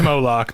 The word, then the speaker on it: Moloch: You have been mispronouncing his name. Moloch. It is Moloch.